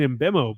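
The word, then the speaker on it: Mbeumo: Brenford uh Visa and Embeo I hope I'm pronouncing those right I say them all the time whenever I'm like, "Oh yeah, it's Whissa and Embemo, but that's that's so anglicized."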